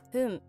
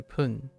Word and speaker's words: 分: Yeah, depending on the number, it's gonna be Hun or Bun or Pun. Actually, has it ever been Bun? Sure. Depending on number before Fun, its pronunciation can change to Pun because of Rendaku.